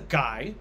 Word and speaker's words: Guy: She marries a guy named Guy would be the French pronunciation.